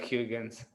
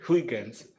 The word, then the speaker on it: Huygens: el 3er sí que no se debe pronunciar higgins si es holandés o yo que fernández vamos wickens estoy bien claro la